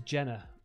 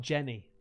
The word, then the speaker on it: Jenna: months come on now my name is Jenna not Jenny oh sorry Jenna oh